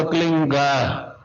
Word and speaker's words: क्लीं: होता है एक शब्द क्लींग शब्द, क्या आधा ला में मिला हुआ, बड़ी की मात्रा और बिंदी, उसका उच्चारण होगा क्लींग गा। गा की ध्वनि निकलेगी पीछे।